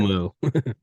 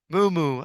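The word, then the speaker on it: muumuu: Mumu. Mumu.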